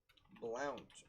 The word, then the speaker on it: Blount: not sign from virginia blount or blunt i've heard it's pronounced but that's funny so